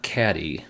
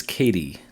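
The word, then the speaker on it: Katy: it's seille and then the last one not caddy which is how I thought it was pronounced I think I heard someone pronounce it that way and I just assumed that was correct is Katie Texas and that's not X should be Texas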